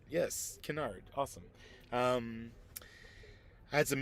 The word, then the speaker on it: Canard: Yes, Canard.